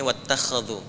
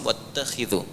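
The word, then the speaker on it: واتخذوا: Kalau di riwayat Warash atau Qalun itu dibacanya wattakhadhu. Riwayat Hafiz dari Asim wattakhidhu.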